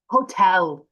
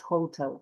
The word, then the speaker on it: hotel: Misha, remember this pronunciation like hotel, not hotel, for example.